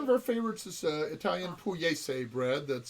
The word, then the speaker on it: pugliese: One of our favorites is Italian pugliese bread. That's spelled pugliese, Pugliese.